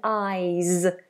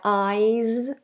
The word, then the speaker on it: eyes: Ice and eyes. The difference is a voiced S. My eyes like a zed and ice.